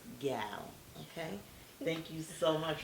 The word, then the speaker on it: Gyal: Make sure you say it properly. It's Gyal.